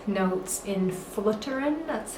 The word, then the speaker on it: Floteren: moment to talk about the X notes in Fullerton that's how you pronounce the name of this tune um so